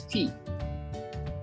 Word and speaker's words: fille: So we pronounce this word as fille.